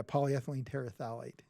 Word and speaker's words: polyethylene terephthalate: to take a stab at trying to actually pronounce what that is. It's polyethylene terephthalate. Yeah, polyethylene terephthalate.